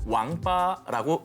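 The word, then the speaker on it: 王八: 중국에서는 거북이와 자라를 통칭해서 왕빠라고 읽습니다. 이것은 인간으로서 갖춰야 할 8가지 도리를 잇다라는 뜻의 망팔과 발음이 거의 흡사합니다.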